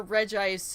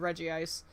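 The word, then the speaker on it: Regice: tatter seeds got him do you prefer reggie ice or reg ice as uh pronunciation um considering the other two are called reggie steel and reggie rock i call it reggie ice but i've honestly i've i prefer the reggie eyes because it's consistent with the other two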